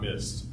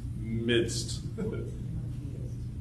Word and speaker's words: midst: but uh he was he was saying mids with a d in their bad pronunciation in like in the middle not missed midst sorry about that okay